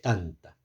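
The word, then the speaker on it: טנתא: sus alumnos estudiaba, eh, lo llaman tanta tanta, que se escribe tav, t nun, perdón, no t no t, sino tet tet nun. Taf alif. Tet nun. Tav alif. Y se lee tanta.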